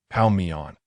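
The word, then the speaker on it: 泡面: Westbrook inquired, having not clearly understood Lee Sunlin's Chinese pronunciation. Repeat after me, pao mian.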